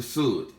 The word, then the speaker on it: Sud: And the fourth and final level is the Sud, pronounced like wood, but spelled S-U-D.